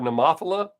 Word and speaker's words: Nemophila: If you Google the word Nemophila, the pronunciation is exactly how I say it, the English version. If you hit a foreign language, it'll tell you a different way.